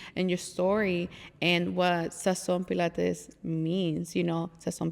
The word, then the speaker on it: Sazón: and Sazón is con Z. Yeah. En la O. Sí, y acento en la O, pero Instagram doesn't let us put the tilde, porque, pero it's Sazón, yes.